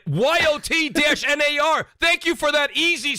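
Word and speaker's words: Jötnar: It's Yotnar. And he spelled it out. This is not how you spell it, by the way. But YOT-NAR.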